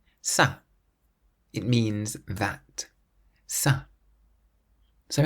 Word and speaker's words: ça: And all it does is tell you to pronounce the C like the letter S. That's why ça is pronounced like an S-A, ça, rather than ka.